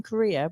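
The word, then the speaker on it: Cúria: I thought you said Korea. I know everyone thinks that. It's not between Aveiro and Coimbra. No, but it's spelled Curia, a lovely little town.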